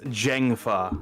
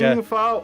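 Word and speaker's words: Zheng Fa: Valara Kintara says Zeng is pronounced Jeng with a voiced J. What? So it's Jengfa.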